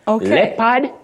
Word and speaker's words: leopard: Many people innocently say jeopardy, but the O in that word is silent, not pronounced. Just like in the word jeopardize. You don't say jeopardize. Jeopardize, yes. Jeopardize, no. Leopard, yes.